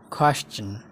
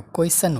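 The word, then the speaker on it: question: प्रोनन्सिएसन। Almond, आल्मन्डको L silent हुन्छ, यसलाई हामी आल्मन्ड होइन आल्मन्ड भन्छौँ। आल्मन्ड। आल्मन्ड। क्वेस्चन, यो क्वेसन होइन क्वेस्चन हो, क्वेस्चन।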